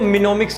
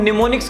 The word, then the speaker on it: mnemonics: सबसे पहली बात, सबको ज्यादातर दिक्कत होती है स्पेलिंग में, एम से स्टार्ट होता है तो कुछ लोग इसको मिनोमिक्स कहते हैं। नहीं, एम इसका साइलेंट है, इसको हम निमोनिक्स कहते हैं प्यार से।